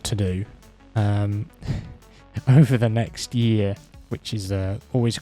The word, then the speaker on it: Nyx: the Nyx system okay because NYX is next yes the small little